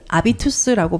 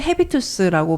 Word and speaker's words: habitus: 책도 많이 내셨다고 해요 아비투스가 h가 있는데 묵음이어서 독일어로는 아비투스라고 발음을 하는 거 같고요 영어로는 헤비투스라고 발음을 해도 무방합니다 그래서 햇빛이라는 단어가 있잖아요